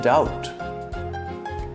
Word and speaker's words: doubt: a as in bread B as in doubt C as in muscle